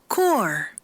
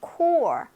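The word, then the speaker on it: corps: 어디서 갑자기 튀어나온 R 발음인지는 모르겠으나 Colonel입니다. 콜로넬 아니고 Colonel 대령이란 뜻이죠. core, 네, core.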